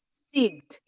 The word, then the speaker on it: Sigd: How did they pronounce it in the native tongue? Sigd, Sigd.